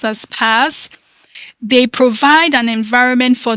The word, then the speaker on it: PaaS: So platform as a service popularly known as P A or pronounced as PAS they provide an environment for the building testing and deploying of software application without focusing on managing underlining infrastructure.